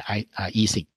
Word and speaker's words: Ising: 啊。当然我听到我的一些同事有人念 Ising，有人念 Ising，那 Ising 应该是德语发音，那 Ising 呢应该就是一般英语发音不过我想说他是德国人嘛，那我就念 Ising 2D 的 Ising model。那这个 Cubo 我也有听人念 Cubo 啊，哎呀，我刚刚早上其实我很努力的查了一下